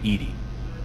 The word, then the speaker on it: EDI: airlock is a jar why are you named Ed Ed is the phonetic pronunciation of eedi that is an acronym for